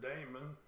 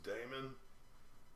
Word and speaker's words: daemon: Hope we could have run the Docker daemon. I love how they spell it too. It sounds like demon, but it's Daemon. Daemon.